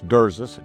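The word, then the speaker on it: Drzis: Okay, it's Derzus. D R Z I S.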